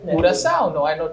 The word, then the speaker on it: coração: Coração, not coração.